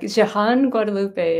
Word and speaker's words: Jehanne-Guadalupe: No, thank you so much, and I didn't do a great job at texting you how to pronounce it. It's Jehanne-Guadalupe, and it's a mouthful for sure.